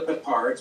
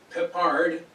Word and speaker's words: Peppard: It's, Peppard in French, or Pippard, has a silent D. So it's almost like Peppard.